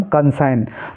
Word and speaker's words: consign: ऐसे ही CONSIGN, इसको पढ़ेंगे हम कंसाइन। तो ये जितने भी वर्ड हैं इनमें जी साइलेंट है, जी का आपको कोई उच्चारण नहीं करना है।